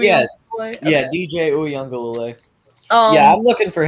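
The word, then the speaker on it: Uiagalelei: Did I pronounce that right? DJ Uyunglele? Yeah, Okay. yeah, DJ Uyunglele.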